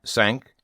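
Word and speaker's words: cinq: Five sank six cease.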